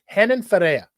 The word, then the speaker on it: Renan Ferreira: They're the softest R's you'll ever see.